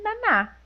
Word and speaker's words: Nana: Eu sempre fiquei na dúvida, é Naná ou é Nana? No japonês, elas falam Naná, né? Então- Elas se pronunciam com Naná. Então é Naná.